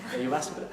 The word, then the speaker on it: Jyväskylä: Yeah, I learned to pronounce it, but Jyväskylä.